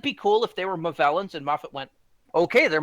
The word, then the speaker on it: Movellans: Is it Movellans? The Movellans, yeah. Yeah, you got it Yeah.